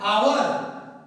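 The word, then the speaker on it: hour: बच्चों ध्यान देना है, ए क्या है आवर, एच क्या है साइलेंट, आवर आवर आ, तो इसमें क्या लगाएंगे,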